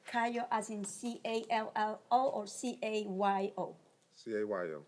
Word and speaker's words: Cayo: You don't make the interpret Cayo as in C-A-L-L-O or C-A-Y-O? C-A-Y-O. How you say it? Cayo. Oh, Cayo. Cayo. Cayo. Yes, Your Honor. In Colombia we say Cayo.